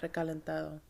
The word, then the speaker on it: Recalentado: Recalentado. What? It's leftovers. Recalentado? Recalentado. Recalentado? No. Re? Ca. Ca? Len. Len? Ta. Ta? Do. Do? Recalentado. Recalentado.